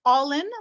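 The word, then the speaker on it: Álainn: that's it so yep it is pronounced all in like you're all into yarn nice how many different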